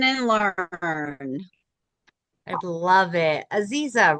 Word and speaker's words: Aziza: Aziza, right? Did I say it correctly? Yes, it's Aziza.